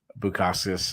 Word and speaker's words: Bukauskas: Tyson Pedro took on Bukauskas. I'm sorry, I know I butchered his last name. No, you got it perfect.